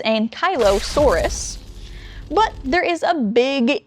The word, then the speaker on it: Ankylosaurus: It does appear that many of them are pushing for Ankylo, like Kylo Ren, Saurus. You know what that means if it's Ankylo-Saurus.